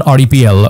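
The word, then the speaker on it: REPL: execution of the python rdpl or Ripple as it's uh pronounced so python rdpl is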